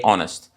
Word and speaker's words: honest: But I don't say a honest. I say Mike is an honest person. You know why? Because H is silent and the sound or the pronunciation starts with an O.